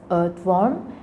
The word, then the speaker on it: earthworm: For example, In British English, the pronunciation of earthworm is earthworm, where R is silent.